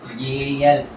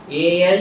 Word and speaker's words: al: For aldehyde group you have to use the suffix Al. For alcohol group it is OL, for aldehyde group it is AL. AL you should not pronounce it as all.